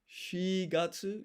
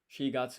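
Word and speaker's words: 四月: And then this is Shigatsu. Shi is another way of saying 4. Usually use yon. So Shigatsu is April.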